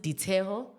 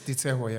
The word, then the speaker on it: Liteho: the name of Liteho, and he works. Liteho? Yeah, Liteho. Okay. But apparently you pronounce it Diteho, but you spell it with an L. Yeah, he's Sutu. It's Diteho, Yeah, it's Diteho, yeah.